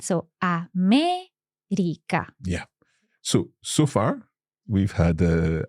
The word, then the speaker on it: América: América is also esdrújula, and it also has an accent. So, América.